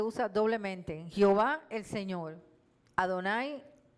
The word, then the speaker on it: Adonai: yahwe en castellano yavet el texto hebraico introduce las vocales de adonay y los estudios judíos lo pronuncian adonay todos los hebreos le dicen Adonai señor Jehová señor yah